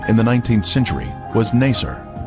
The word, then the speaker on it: Nasr: Its former name in the 19th century was Nasr. This pronunciation is similar to Nicer, a village that the Babylonian Berosus described as being near the Ark site.